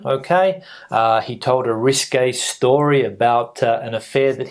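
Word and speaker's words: risqué: classified as risque okay uh he told a risque story about an affair that he had uh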